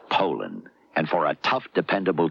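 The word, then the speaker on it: Poulan: wouldn't use anything but a puland. Poland, Ed. Poland. And for over 30 years, they've been mispronouncing our name. Pand a p. So, we'd like to remind you that our name is Poland.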